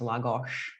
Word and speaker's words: Lagos: And we're in Lagos, which is pronounced Lagos.